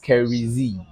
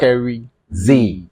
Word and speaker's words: Skery Zee: Well, actually, it's pronounced Skery Zee. All right. Skery Zee. There's always a space.